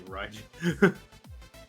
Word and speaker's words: Raijin: See, you're going a little bit too much L. It's more R. You're pronouncing an R. You just position your tongue as if it's an L. Raijin.